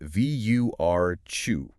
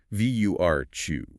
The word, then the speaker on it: virtue: Virtue is pronounced vur chu. It's that tit sound in the middle that some English learners find a little tricky. Like the chi in church. Vur chew.